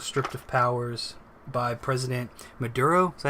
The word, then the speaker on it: Maduro: National Assembly was stripped of powers by President Maduro. Is that how you say his name? Maduro.